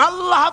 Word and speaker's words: আল্লাহ: আল্লাহ পাকের উচ্চারণটা হচ্ছে আল্লাহ পাকের নামের উচ্চারণ হচ্ছে আল্লাহ মুখটা একটু গোল হয়ে যাবে বলেন আল্লাহ